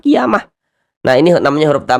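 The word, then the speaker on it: قيامة: Qiamah ini kalau kita berwakaf atau berhenti di sini kita baca qiyamah. Jangan baca kiamat ya. Jangan ini masih sangat sering sekali terjadi kesalahan bagi yang tidak paham tajwid. Dibacanya kiamat bukan, bukan kiamat tapi kiamah.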